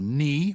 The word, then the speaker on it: knee: K is, the ones I've listed are knee, Knee. knife, Knife. knight, night, not, cannot, and no. Okay, we used to pronounce the Ks, and I You're wish that we joking.